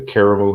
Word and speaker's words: Karamu: a bit about the uh and am i pronouncing it correctly the caramel house correct that is correct well the caramel